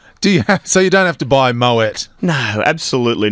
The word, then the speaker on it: Moët: It's not Maui, it's Moët. Yeah. Okay, so you don't have to buy Moët?